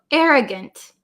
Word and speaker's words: arrogant: So arrogant. Arrogant. So it looks like it should be pronounced arrogant. Arrogant. But usually the last vowel in a word, we change it to like almost a short I sound.